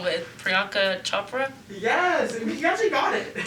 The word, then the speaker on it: Priyanka Chopra: I don't want to pronounce it wrong, but Priyanka Chopra?